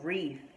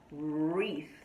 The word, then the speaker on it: wreath: called a wreath now it has th at the end so this is where the difficult part comes so let's practice pronunciation wreath one more time wreath let's do it one more this is difficult look at this th wreath right it's a th sound and so the wreath